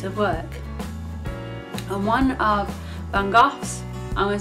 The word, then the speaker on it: van Gogh: his name right, but I think you say it, Vincent van Gogh, even, Gogh. I'm pretty sure that's how you say it, or Van Gogh, as most people say.